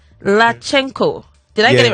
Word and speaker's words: Latchenko: it's let me try and pronounce this and pronounce it right lachenko did i get it right yeah yeah i